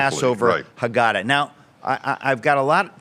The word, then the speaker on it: Haggadah: I believe I'm pronouncing that correctly. The Rational you did it beautifully. Passover Haggadah.